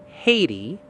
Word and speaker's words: Haiti: Now, put those objects together. Hay ti. Haiti.